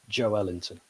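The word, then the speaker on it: Joelinton: name and they said in brazil you pronounce that the stress is on the middle of the word so actually the correct pronunciation is joe ellington so that never happens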